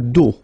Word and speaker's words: dos: Final S not pronounced. Okay? Le dos.